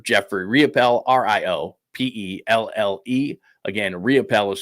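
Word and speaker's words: Riopelle: Again, RIOPELL is spelled R-I-O-P-E-L-L-E.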